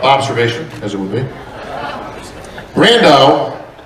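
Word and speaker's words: Brandão: as it would be Brando rhymes with Sandile a lot of people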